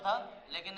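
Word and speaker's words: phthalic: थैलिक अम्ल English में इसे पथैलिक भी बोलते हैं, मतलब पी साइलेंट रहता है, थैलिक ही रहता है।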